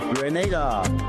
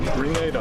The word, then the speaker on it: Grenada: So today, like we Germans say, we are in Grenada. But I heard in English it's called Grenada. Say it right. Grenada. Say it right. Grenada.